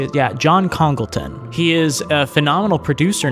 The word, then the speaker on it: John Congleton: Yeah, John Congleton.